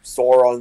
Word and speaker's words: Sauron: no, is that how you pronounce it? Sauron? Yeah, it's Sauron. I thought it was It's Sauron. always been. Well, I've heard different, but Sauron seems to be the Sauron seems to be the one that consistently is what people go with.